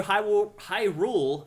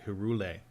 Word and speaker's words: Hyrule: I knew a kid in in grade school who called it Herule. Oh, really? And we're like, that's definitely not how you pronounce that.